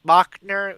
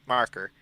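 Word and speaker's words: Macher: Mocker named Steu, which for the longest time I thought was Mockner is spelled M A C H N E R, but it turns out the subtitle it's Marker.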